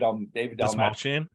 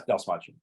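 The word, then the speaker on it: Dastmalchian: How do you pronounce his last name? David Dalmachian. Oh, that's Dalmachian.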